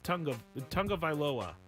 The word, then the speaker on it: Tagovailoa: Also, Tua Tagovailoa is, to this person, Tua Tagovailoa, which is also not their name. Not their name. Tagovailoa is not his name. It's Tagovailoa. Vailoa is not their name.